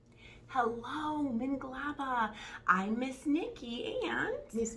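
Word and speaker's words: မင်္ဂလာပါ: Minglaba.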